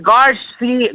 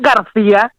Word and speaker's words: Garcia: some fire is always his last name is Garcia Garcia not Garcia you can't pronounce his